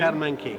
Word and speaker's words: Karlmann King: So how do you pronounce it? Karlmann King? Karlmann King.